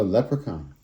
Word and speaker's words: leprechaun: Oh, leprechaun.